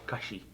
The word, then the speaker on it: Kashi: And then is that cashy? Is that how you say it? I don't eat that. Cashy cereal or an avocado? Kashi. Kashi.